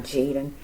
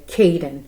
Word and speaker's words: Kadin: Jen please forgive me his name is not Jaden okay Caden I'm so sorry Caden